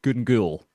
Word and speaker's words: Gun Ghaol: But I would I would accept gunul because that's how a lot of Glasgians will say it often with a much broader accent. So either gungul or gul if you want the real authentic gic sound.